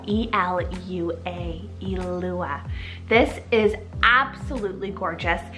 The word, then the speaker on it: Elua: So we are starting on the girls' side of the list and we have the gorgeous name Elua, spelled E-L-U-A, Elua.